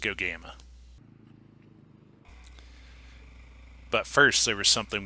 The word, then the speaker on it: Gogama: We had to leave Sudbury and make our way all the way up to Gaugama, which we later found out is pronounced Gogama.